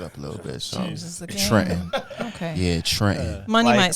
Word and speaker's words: Trenton: I say, "Uh, now I pronounce it Trent N." you know, I don't pronounce that second T cuz, you know, I just don't think it doesn't feel like a black name to me.